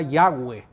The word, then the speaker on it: Yahweh: letras consonantes, y entonces quizás la pronunciación más aproximada sea Yahweh, ¿verdad?